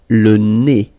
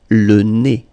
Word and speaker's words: le nez: So remember when you get this combination, EZ here at the end of a word, it's E. Le nez. Le nez.